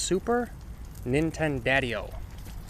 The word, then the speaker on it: Super Nintendadio: And as for me, a lot of people just call me Super Nintendo cuz my name's kind of long, but it's pronounced super Nintendadio.